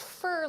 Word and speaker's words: fer: But it's fur like F-E-R. That's how you have to spell that.